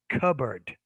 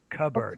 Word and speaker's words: cupboard: okay yeah cupboard yeah in this case it's a cup bird bird cupboard cupboard so in the beginning in that medial sound it's a bee cubber cupboard thank you yeah you're